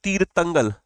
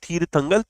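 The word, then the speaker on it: தீர்த்தங்கல்: तमिलनाडु में हो गया तीरतंगल, नॉट थीरथंगल, तीरतंगल, ओके।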